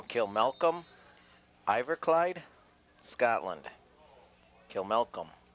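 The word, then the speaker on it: Kilmacolm: Kilmari? No, Kilmalcolm.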